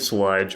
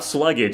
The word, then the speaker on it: Slugdge: And we're reviewing the 2018 album Esoteric Malacology by the band Sludge or however you pronounce it, not Sluggage. If you say that you're dumb, apparently according to the uh the creator of the band.